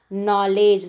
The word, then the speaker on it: knowledge: we are starting with knowledge starting with n so the letter k is silent in the word knowledge similarly the first one